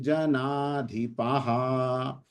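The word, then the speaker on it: जनाधिपः: ना सन न त्वन्ने में जनाधिपाहा। दो जब विसर्ग आते हैं तो ह का उच्चारण होता है वहां पर, ये जो दो बिंदियां पीछे है संस्कृत में इसको विसर्ग कहा जाता है, विसर्ग।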